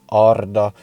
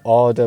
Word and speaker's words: Arda: So yes, it is Arda in Sindarin and in Quenya. I won't get too into it, but you do roll the R's. This isn't a class in pronunciation. Equally, I might say Arda myself as well, because speaking English, you tend not to roll R's, so it feels very odd.